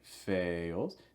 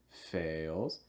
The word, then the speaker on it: fails: If all else fails, quick note on pronunciation here, fails. This is a long vowel, so it's going to break into two parts. Ale, fails.